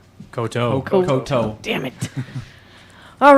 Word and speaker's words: koto: Oh yeah, God, I'm so bad at pronouncing things. Whatever they said, that's a Japanese instrument. Coda. Koto.